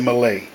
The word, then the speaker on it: Mallet: some people pronounce it Mallet some people pronounce it Malay I'll just call it a mallet um this train I